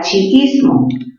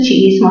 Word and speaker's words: chiismo: La palabra chiismo. A ver, recordemos, sería chi, luego viene is, y luego viene mo, chiismo. ¿Dónde tiene mayor fuerza de voz chiismo? En la sílaba is, ¿sí o no?